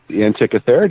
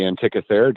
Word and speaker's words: Antikythera: In your book, you also talk about I believe it's pronounced Antikythera device. The Antikythera device. That's really good, Tess. Yay, I did it! Looking at no, you nailed it. The Antikythera device.